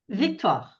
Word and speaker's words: Victoire: How do you pronounce that, Victor? Victoire.